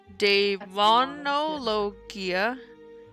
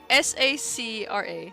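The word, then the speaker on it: Daemonologia Sacra: How do you spell it? It's DAEMONOLOGIA. Demonologia Scar SACRA. You pick up this book. SAC? SACRA.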